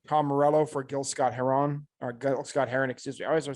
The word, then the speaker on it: Heron: Brian Adams for Todd Rundgren, Tom Morello for Gil Scott Heron, excuse me. I always want to say Heron, but it's Heron.